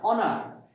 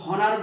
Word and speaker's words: honour: যেমন আমরা যদি বলি HONOUR, অনার, এই উচ্চারণটা কিন্তু আমরা হনার বলি না, বলি ও থেকে উচ্চারণ হচ্ছে কিন্তু, অর্থাৎ এইচ এর উচ্চারণটা উজ্জ হয়ে যাচ্ছে, অতএব ওই অনারের পূর্বে কি বসবে?